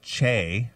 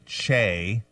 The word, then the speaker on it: Che: Saturday Night Live star Michael Che, I think that's how you say his name, C-H-E.